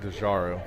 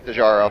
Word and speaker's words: DeGarro: He pronounces that DeJaro. DeJaro. It's DeJaro.